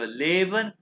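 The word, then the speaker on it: lieben: और लीवन ये देखो लेबन और लीवन तो ये देखो आई ई किस चीज की प्रोनाउंस करता है आवाज ई ई इसलिए ली बन है लीवन टू लव इसकी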